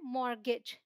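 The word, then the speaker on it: mortgage: Alright, अब इसे आप देखिए क्रिसमस, ये आप याद कर लीजिए कि यहाँ पर भाई टी साइलेंट है और यहाँ इसे बोलते हैं मॉर्गेज।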